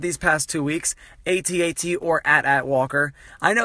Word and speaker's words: AT-AT: on for a while I've always said AT-AT but I've been told by many mega Star Wars fans that it's add at so how would you